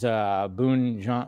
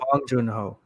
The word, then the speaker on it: Bong Joon-ho: The Host, which is Boon John. What I can never say his. How do you say it? Boon John Joe Bong Joon-ho. Bong Joon-ho. There you go. Not Boon. Bong Joon.